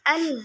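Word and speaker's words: ٱلْحَآقَّةُ: Nah, kemudian contoh ayat kedua itu ada surat Al-Haqqah ayat 1 yang mana bunyi bacaannya Al-Haqqah. Nah, itu bunyinya cara membacanya itu 6 harokat atau 3 alif.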